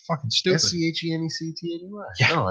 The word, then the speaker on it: Schenectady: Skeneedles. See, I've heard Skinny Atlas, but they don't know how to spell that.